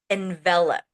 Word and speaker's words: envelop: And envelop. So, the pronunciation is different than what you may know envelope, but the spelling is is exactly the same.